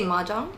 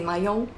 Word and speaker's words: mahjong: I usually say maong. Mang. Yeah. But everyone has different pronunciations and in different languages it's pronounced differently. In Europe some some countries say mayong that sounds so French.